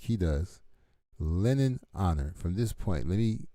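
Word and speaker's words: Lenon Honor: is everybody who watched leon honors are how many people live in lake charles louisiana all right i don't know where leon honors uh linden okay let me say his name right from out of respect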